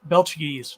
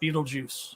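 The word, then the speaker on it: Betelgeuse: when a star explodes belches not Beetlejuice oh this is the mispronunciation yeah thank you this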